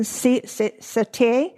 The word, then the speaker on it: Siete: It's spelled Siete. It's Spanish or Mexican satay.